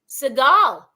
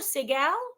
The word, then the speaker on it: Segal: Is it Segal or Segal? I like both. I'll go with either. It's Seagal mostly, but my family's from Mexico, so we say Seagal. Sigal.